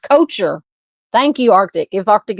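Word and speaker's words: Koecher: It's pronounced coacher.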